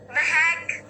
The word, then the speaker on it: Mahack: Mahack. Did I say it right? Yes. Mahack.